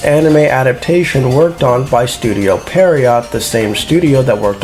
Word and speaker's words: Studio Pierrot: It get its anime adaptation worked on by Studio Pierrot, the same studio that worked on Cosmo Police Justy in 1986. It's pronounced Studio Pierrot.